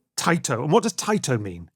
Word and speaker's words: Taito: Again, pronunciation, forgive me, but it's Taito, Taito. Taito.